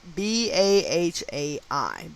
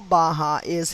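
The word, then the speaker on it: Baháʼí: in case i'm butchering the word the faith is spelled b-a-h-a-i baha'i it was established 1863.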